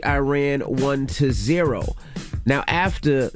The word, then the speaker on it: Iran: the Iranian people but you're pronouncing our country's name wrong a country is named Iran not Iran and once and for all let's get this